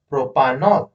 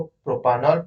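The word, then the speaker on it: propanol: तो कुल मिलाकर क्या हो जाएगा, प्रोप plus N plus all, प्रोपानॉल। ठीक है। तो इस तरह से हम लोग इसको प्रोपानॉल प्रोनाउंस करेंगे। एल्डिहाइड के लिए सफिक्स जो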